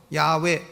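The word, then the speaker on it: 야훼: 스스로 있는 자 헤어 히브리어로 발음은 여호와 라고도 하고 야외 라고도 발음을 하는 것입니다 4 중요한 것은 여기에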